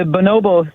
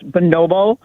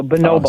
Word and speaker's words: bonobo: wanted to address the bonobo situation because I've always heard it pronounced bonobo, and I just double-checked it online, and the phonetic spelling was B-U-H, and then emphasis on the no, so bonobo.